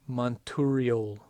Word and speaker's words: Monturiol: No, it's Monturiol. Monturiol. That's what you get. If somebody has a pronunciation, they can send it to me.